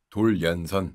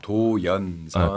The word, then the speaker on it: 도련: 도련선. 섬들을 다 이어놓은 선이에요. 도연선. 도련. 그렇죠. 발음하게 되면 도련인데 중국에서는 이거를 아주 중국